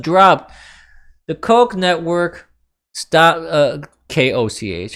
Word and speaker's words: Koch: The Koch network stopped, Koch, I think that's how it's pronounced, right?